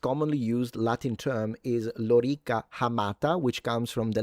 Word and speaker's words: lorica: And if you read it lorica, it's incorrect. It's lorica. Both the O and the I are long when it comes to phonemic vowel length in Latin. So the correct pronunciation in Latin, in English, you can say whatever you want. But in Latin, it's lorica.